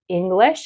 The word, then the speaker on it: English: would be I noticed when you say English, you say it sounds like it sounds like you're saying English like eat it, right? Right. Like the e and eat and then e and it I feel like you're saying the e English where it should be English.